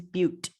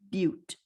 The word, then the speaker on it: but: prop and four is butte i know it looks like butt but it's pronounced butte okay so these prefixes